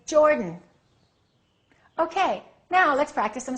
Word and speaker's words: Jordan: say he is from Jordan reduce that a and say Jordan okay now let's practice